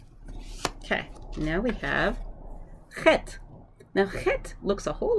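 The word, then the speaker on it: חית: is you think about when you say like blech, blech, blech. It's that sound at the end, blech. Or ugh, like, oh, I forgot that, ugh, that sound. Chet.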